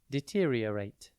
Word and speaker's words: deteriorate: It is pronounced de-ter-e-a-rate and spelt D-E-T-E-R-I-O-R-A-T-E. Think deter, D-E-T-E-R, then I-O, and then rate, deteriorate. To deteriorate means to become worse or decline in quality, condition, or value over time.